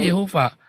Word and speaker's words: Yehova: Ini bacanya Yehova. Saya kan belajar bahasa Ibrani, Pak. Ya, di bawah huruf Yod ada tanda Shewa. bacanya ya. Hei-nya ada waw. Ya, jadi yah, yeh, wah. Nah, kalau dalam transliterasi kita ya Yehuwah. Yang benar adanya Yehova dalam transliterasi bahasa Indonesia. Jehovah. Itu yang benar.